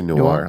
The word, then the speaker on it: noir: that do this uh the one that I use is called Noir new is how you say it inir I would say Noir like film Noir boys you know we call it new here in the South yeah it's like manure without the the first part uh